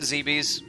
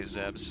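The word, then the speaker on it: Zebes: log09.992.3 zepes has fallen I pronounce it zb's if you pronounce it differently I'm sorry some people say zebs or is the best but I have to say zb's all ground Personnel are presumed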